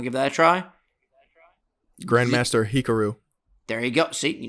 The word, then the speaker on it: Hikaru: Grandmaster Hikaru.